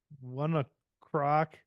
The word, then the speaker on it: ONE OK ROCK: Oh, Am I the only one that's sick of stuff that's pronounced differently than it's spelled? Why, Like how what? did it- Like Pharaoh and Wanna Croc.